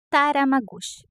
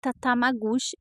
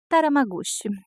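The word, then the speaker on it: Tatamagouche: é nós somos PR taram magus é assim que se pronuncia eu falei errado no vídeo não é tatam magus é taram magus aqui tem muitos nomes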